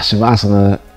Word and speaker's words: Shavasana: Shavasana, it rhymes with sauna because it is as relaxing.